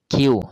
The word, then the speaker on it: queue: queue, queue, dear students, keep in your mind the pronunciation. queue, Q-U-E-U-E, queue, line of people, cars, etc.